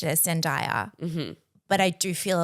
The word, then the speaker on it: Zendaya: is there was a conversation around how to pronounce the word Zendaya. And in this show, they did decide it was Zendaya. And Well, I know previously we have had this conversation I mispronounced it as Zendaya.